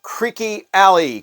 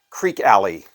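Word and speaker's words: Creeque Alley: a jerk off is called creaky Ally creaky Ally not Creek alley and that just about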